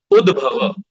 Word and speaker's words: उद्भव: Udbhava.